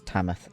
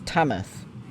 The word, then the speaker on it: Tamworth: I use Tamworth because I grew up there. And that is the local way of saying it. You don't pronounce the W.